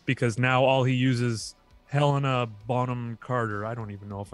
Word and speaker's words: Helena Bonham Carter: if you shall, because now all he uses Helena Bonham Carter.